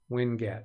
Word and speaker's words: winget: Oh, so it'd be Winget, Windows Get, Winget. That would be the right pronunciation.